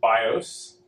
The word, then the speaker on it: BIOS: called the uh basic input output system usually pronounced bios and this bios is typically stored in a